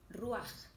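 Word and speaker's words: רוח: Y en hebreo se pronuncia ruaj. A mí me pareció impresionante, ruaj.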